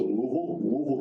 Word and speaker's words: Louisville: If you're from that area, they pronounce it Louisville, Kentucky.